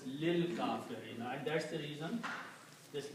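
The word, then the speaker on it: لِلْكَافِرِينَ: So you do in tajweed, li al-kafirina will be pronounced as lil kafirina, and that's the reason this lam is going to combine with this lam.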